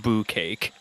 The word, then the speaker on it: bukkake: Little bukkake for your viewing pleasure. It's pronounced boo cake.